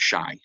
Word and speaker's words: Shai: future podcasts the need my name is pronounced shy oh I'm sorry it's